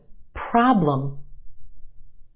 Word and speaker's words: problem: another one problem problem two syllables in this word our first syllable is emphasized the ah problem is stretched and emphasized in the first syllable our second syllable is where you have your schwa problem problem what's the problem